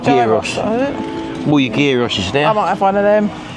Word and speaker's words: gyros: It's spelt gyros, yeah, but it's called gyros.